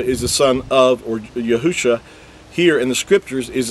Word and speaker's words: Yahusha: the coming Mashiach, Messiah, is spelled with 5 letters, which translates into Yahusha, and that's the original text. Now again, with vowel points, it's going to say Yahushua, and that's because they vowel pointed and added an extra